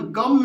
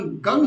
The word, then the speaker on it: गं: बिंदी लगती है और उसका उच्चारण गम नहीं होता उसका उच्चारण गंग होता है जैसे हमारे यहां पर हम गंगा बोलते हैं गंगा गंगा में से